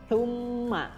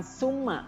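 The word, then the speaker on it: ثمّ: Tsumma, ya, sa, ya, cara membacanya lidahnya seperti digigit, ya, antara gigi atas dan gigi bawah. Jadi bukan summa, bukan sa, tapi tsumma.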